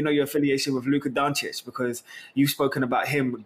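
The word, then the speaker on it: Dončić: I'm also looking forward to seeing how many times Jaydee says Luka Doncic, because that's my favorite pronunciation. Doncic, everyone in the world in the NBA, Luka Doncic is in the building.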